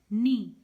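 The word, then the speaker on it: knee: नी। नी में साइलेंट कौन सा लेटर है? किसकी साउंड नहीं आ रही? के की साउंड नहीं आ रही, तो यहाँ पे के साइलेंट है।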